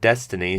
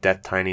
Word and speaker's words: DeathTiny: is a really silly title and I think death tiny is actually better so I don't think it's